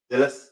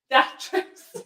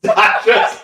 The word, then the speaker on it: Datrys: Dillis? No, not Dillis. That's my camp van. Datress. Datress.